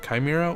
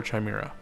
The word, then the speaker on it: chimera: you guys pronounce that chimera or chimera i always pronounce it kai like a k sound uh chimera wing oops i don't